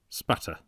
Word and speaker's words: Aspatria: Idle, until it appeared that the honest English pronunciation of that Cumberland country shortened Aspatria into Spatter.